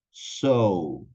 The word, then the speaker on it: sew: esas dos primeras palabras las vamos a pronunciar igual que esta palabrita esté conector que tenemos acá que es para decir Y entonces por lo tanto que es simplemente decir so so como cuando yo